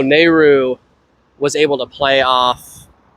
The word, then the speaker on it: Nehru: Nehru.